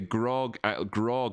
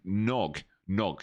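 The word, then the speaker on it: GNOG: Can you look at the Grog too? Wait, is it Grog? No, Nog. G-N-O-G. Let's say it's a silent G at the start there.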